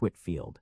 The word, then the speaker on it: Whitefield: 79 George Whitefield pronounced H. Whitfield 1714 to 1770 a